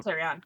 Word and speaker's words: Carrion: Carrion is how Carry on. Kalani pronounces it.